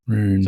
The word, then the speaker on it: Roon: Roon. It's like room but with an N instead of an M in the end.